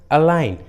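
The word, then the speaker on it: align: जैसे साइन, अलाइन, देखिए दोनों इंग्लिश वर्ड्स में जी एन के पहले आया है, इसलिए जी साइलेंट है, जी का उच्चारण नहीं किया गया।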